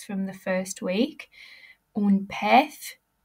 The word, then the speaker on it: pez: Un pez. Remember, Z's are pronounced like a TH sound. So think back to your phonics from the first week. Un pez.